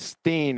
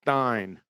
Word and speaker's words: Stein: indictable like wit it it's not Steen it's Stein Alex Stein and wit